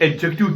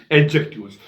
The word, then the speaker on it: adjective: और यहाँ आप एक चीज़ याद रखिए प्रोनाउंसिएशन के एतबार से, वो ये है कि ADJECTIVE, यहाँ डी साइलेंट रहता है। तो गलती में, चूंकि इंग्लिश हमारी मदर टंग नहीं है, हम एडजेक्टिव पढ़ते हैं, तो एडजेक्टिव इसका सही प्रोनाउंसिएशन नहीं है, इसका सही तलफ़ुज़ है एडजेक्टिव, डी साइलेंट करके।